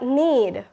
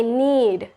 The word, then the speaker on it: knead: Next word we got, need. It's K-N-E-A-D. The K sound is silent, so it's need. Not like need, like I need it. No, I need it.